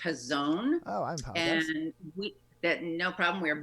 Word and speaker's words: Hazon: in normal times does Hays on Detroit do difficult to remember those normal times first up I just want to clarify it's actually pronounced his own oh no problem we